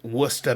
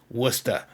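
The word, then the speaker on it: Worcester: My concert ticket Wora Mass wor of course it's spelled Warchester, right? But anyone in the know and of course up there in Massachusetts where I lived it was wor cuz that's how we say things up there.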